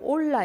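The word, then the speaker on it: עולה: 우리가 이어받을 수 있습니다 번제는 히브리어로 올라 있니다 올라 그런데 그 의미는 올라가다입니다 그래서 너무나 발음이 똑같죠 예 올라 그 의미는 우리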